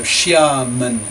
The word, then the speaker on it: Xiamen: still live in is Xiamen, which that's X-I-A. X-I in Chinese is a sh sound, so Xiamen, M-E-N.